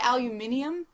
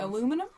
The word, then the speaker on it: aluminium: what's do you say aluminium yeah that's what I was going to say next aluminium aluminium aluminum aluminum aluminium that's how they say it in England Alum that's I would